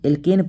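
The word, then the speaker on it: alkene: ठीक, और जब हम लोग एल्केन पढ़े थे तो उसमें आया था एन, और जब एल्कीन पढ़े थे उसमें आया था इन।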